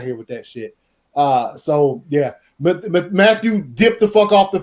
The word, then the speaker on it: Mathieu: Tyrann Mathieu for Mateo safety from. Thank you. No, say Matthew. It how it's spelled. Matthew. It's Matthew. It's Matthew. They all messed up.